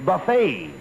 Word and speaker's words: buffet: Not buffet supper. It's buffet. The T is silent.